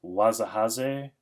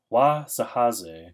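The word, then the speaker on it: Wahzhazhe: I'm pretty sure this is pronounced Wazahaze.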